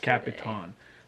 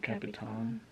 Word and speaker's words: El Capitan: which we saw yesterday capitan that's how they all pronounce it huh yeah capitan like happy tan um but anyway this